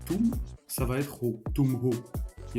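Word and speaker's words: हो: Donc en profondeur, c'est ho plus na. Bien prononcer le H.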